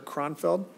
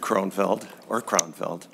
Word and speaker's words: Kronfeld: Am I pronouncing it correctly, Mr. Kronfeld? Yeah, that works. Well, please introduce yourself and present your testimony. My name is Kronfeld.